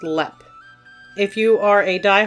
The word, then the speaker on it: Leap: for today's episode we are hopping across the pond to ireland to discuss haunted lep castle and yes it is spelled like the word leap but it is pronounced lep if you are a